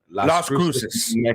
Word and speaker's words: Las Cruces: Las Cruces.